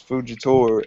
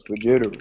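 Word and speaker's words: Fujitora: You pronounce Fujitor as fitter.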